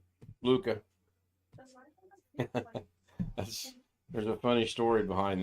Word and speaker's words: Leica: Leica. Leica? He's saying Lika. Okay. I would pronounce that Luca.